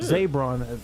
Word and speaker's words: Zaybron: Zaybron, that's how you say his name.